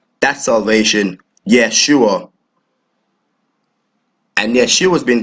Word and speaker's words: Yeshua: in English in the Hebrew tongue it is pronounced as yeah sure that salvation Yeshua and yet she was being translated into the